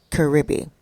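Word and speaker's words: Caribe: Caribbean Express spelled c-a-r-i-b-e like carob but it's pronounced Caribbean and it's called Express that means that you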